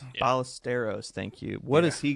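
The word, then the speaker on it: Ballesteros: The one person I'm paying attention to in the Cubs lineup is I don't know how you pronounce it. Ba Bastrus. Um, Ballisteros. Ballisteros.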